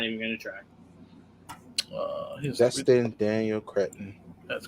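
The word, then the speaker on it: Destin Daniel Cretton: Joel, you pronounce his name. I'm not even going to try. Dustin Daniel Cretton.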